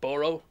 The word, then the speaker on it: borough: i'm pronouncing that right boro yeah the borough we say borah but that's because we